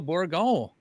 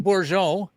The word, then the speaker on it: Bourgon: the G, and Bourgon. Don't forget the G. Don't forget the G, not Bourgeon.